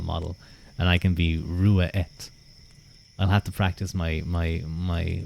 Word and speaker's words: Ruadh: Name pronunciation. Sure. My name is Rua.